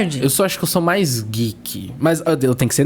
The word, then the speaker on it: geek: geek né então eu vou soletrar para que vocês pesquisem tá Vê se eu tô certa g e é isso fica isso né isso e se pronuncia geek tá bom E aí